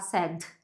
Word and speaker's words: sad: Eu imagino que a tendência da maior parte das pessoas é falar sad e soltar bastante esse D, mas isso é uma coisa que não acontece tão frequentemente. O mais normal é segurar esse som.